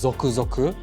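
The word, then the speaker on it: ぞくぞく: with this because the original anamia this is pronounced zoku zoku is one that portrays that tingly feeling you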